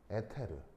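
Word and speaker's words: ether: 아직 찾지 못한 빛의 매질을 이서라고 한 거예요. 이서, 일본식 발음으로 에테르.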